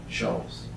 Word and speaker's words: Scholes: Is that Shoals? I don't know how to spell it. How do you say it? Shoals. Shoals.